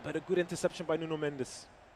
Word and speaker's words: Nuno Mendes: But a good interception by Nuno Mendes. Or as the Portuguese would say, Nun Mench.